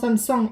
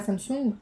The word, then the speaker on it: Samsung: En fait, ça m'étonne parce que, je sais pas si vous le savez, mais Samsung, parce que ça se prononce Samsung et pas Samsung.